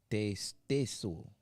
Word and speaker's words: te stesso: It sounds like a ST at the front.